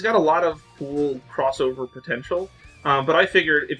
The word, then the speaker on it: X Over: from another mega man crossover game uh literally called rockman uh crossover although it's spelled x over um hence the